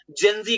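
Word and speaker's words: Gen Z: Generation जेड है ना, इसको ही प्रोनाउंस किया जाता है जनरेशन जेड को जेनजी के रूप में, जिन्होंने नेपाल में प्रोटेस्ट जो हुआ है उसे अपने हाथों में लिया है।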